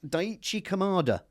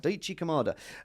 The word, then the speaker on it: Daichi Kamada: No, it was Daichi Kamada. Okay. Is that the right pronunciation? Yeah. Daichi Kamada.